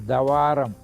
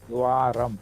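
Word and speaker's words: द्वारम्: Without this, it will become Davaram, Davarama, if both are not there. So if this is line is written, it becomes half of the, so it is Dwaram as pronounced.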